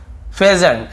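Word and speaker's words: pheasant: A crow and अ पेजेंट, ठीक है, इसे हम क्या बोलते हैं, फेजेंट, ऐसे ऐसे उच्चारण फेजेंट।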